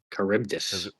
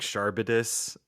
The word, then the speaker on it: Charybdis: Charybdis. Yeah, because that's definitely the way I think it should be pronounced. We were saying like Sharbidis.